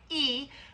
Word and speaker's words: y: So you'll see the little letter Y, and that's pronounced E, which is and in Spanish. It means and. The English word and is the Spanish letter Y, pronounced E.